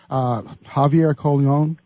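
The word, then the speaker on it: Javier Colón: You've played with James Taylor, Javier Colon, or if I'm pronouncing that right, from The Voice, the winner of The Voice.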